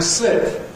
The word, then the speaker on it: slip: Okay, they sound different. Sleep, slip.